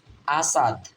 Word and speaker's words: Asad: হচ্ছে কি হু ডব্লিউ এইচ ও হু ইজ আসাদ এ এর উচ্চারণ হবে এখানে আ এর মত এ এর